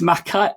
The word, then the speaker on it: Mackay: For the future, it's Mackay. It's Mackay. So you can't say, it's not just me. Mark, you just said the same thing twice. You just said, Mackay.